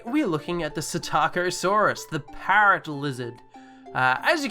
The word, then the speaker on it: Psittacosaurus: So first off, the Psittacosaurus. So just like the Pteranodon, the P is silent.